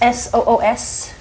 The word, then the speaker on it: Soos: So I got the Soos, S-O-O-S, that's how you say it, Soos, Dead Sea Spa product for pets.